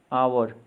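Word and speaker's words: hour: H silent वाले words देखेंगे। ऑनर, इज्जत। आवर, घंटा।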